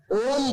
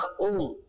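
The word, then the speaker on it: ॐ: ओम बोलने पर भी यद्यपि हमने मिलाकर बोला ओम, लेकिन ओम बोलते में पहले आओ ओम ओम ओम ओम ओम ओम। थोड़ा ध्यान देंगे तो ओम बोलते में पहले आ, फिर ऊ, फिर मां।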